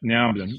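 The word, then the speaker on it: Nea Onnim: And then the second dish, and I can't be sure of how to pronounce this. Nea Omnin? Yep, Nea Omnin.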